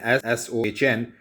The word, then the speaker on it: Sohn: It is written like this with an S-O-H-N, but it's pronounced as Sohn, beta, Sohn।